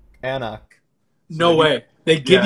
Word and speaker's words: anCnoc: It does say pronounced Ancnoc.